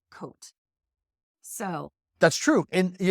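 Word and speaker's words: Côtes: c o t s is pronounced coat so that's true and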